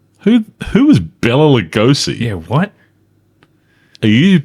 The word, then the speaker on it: Lugosi: The movie stars Bella Lugosi. Who is Bella Lugosi?